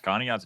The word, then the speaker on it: Conneaut: What is it, Conneaut or Oh, yeah. Conneaut's big.